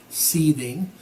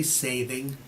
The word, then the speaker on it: Seiðr: Sometimes I say sathing, but the spelling is different. It looks like it should be Seiðr or Seiðr, S-E-I-D-R. That's a weird D. It's not really a D, it's the th sound.